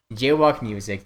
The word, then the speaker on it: JWOK MUZIK: I don't know the exact channel link, but the channel name is JWOK Music, but it's spelled really stupid because I was like 12 or 13 when I made it. So it's JWOK MUZIK. JWOK Music.